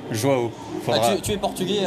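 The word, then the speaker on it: João: Joao Souza, attention, prononciation. Joao.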